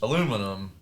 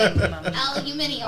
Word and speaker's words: aluminium: ATM and uh aluminum which aluminum is aluminium I was just fixing to say aluminium aluminium it depends on where you are how you say it um aluminum is very